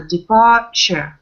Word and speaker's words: departure: In English, everything with URE. Все, что на английском заканчивается на URE, то, что так и хочется прочитать как уре, читается как просто. Departure.